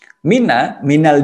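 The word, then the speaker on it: مِنَ: Minal jinnati. Kenapa min kok kadang dibaca mina? Aslinya memang min, tapi di sini ada harokat fathah di atas huruf nun agar bisa dibaca langsung dengan kata setelahnya. Itu mina.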